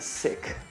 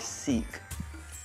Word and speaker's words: Sikh: A follower of Sikhism is called a Sikh. That rhymes with Sith, not Sikh.